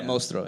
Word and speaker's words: Mostro: Is that how you say it? Mostro. Yeah, Mostro. Yeah, because it's like close to monster in Spanish.